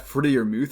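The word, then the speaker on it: Freiermuth: next up we have rat freddie or muth as i'm told to uh pronounce it and he is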